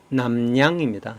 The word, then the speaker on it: 납량: 근데 이 남량은 표준 맞춤법, 한글 맞춤법 표준 발음으로는 남량입니다.